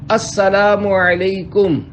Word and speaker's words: السلام علیکم: لے۔ 11، سلام اور جواب سلام کا درست تلفظ یاد فرما لیجئے۔ پہلے میں کہتا ہوں، آپ سن کر دہرائیے۔ السلام علیکم۔ اب پہلے میں جواب سناتا ہوں، پھر آپ